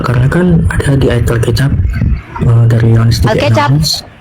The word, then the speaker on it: Alkitab: Gini kak, karena kan ada di ayat Alkitab dari Yohanes 3:16. Alkitab bukan Alkecap. Alkitab.